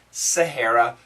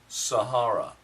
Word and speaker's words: Sahara: dunes of the Sahara American pronunciation Sahara British pronunciation Sahara what is the original pronunciation I wonder these these talking